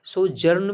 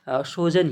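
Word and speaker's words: sojourn: सोजन बोल सकते हो सो जर्न भी भी बोल सकते हो क्योंकि देखो सही प्रोनंसिएशन सोजन ही होगा क्योंकि इसमें जो है आर जो है इसमें साइलेंट है मतलब कि इसको पढ़ा नहीं जाता तो ऐसे कई इंग्लिश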